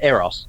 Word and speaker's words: Eros: I say Eros.